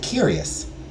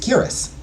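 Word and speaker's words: cuirass: in the air wait what's it curious oh it's the chest part of the armor I think that's a curus oh it's pronounced curus oh no way yeah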